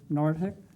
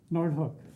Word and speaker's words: Noordhoek: nelnet speaking for nelnet today will be nortek did i pronounce it right noordhoek okay thank you so itõs visionary proposal for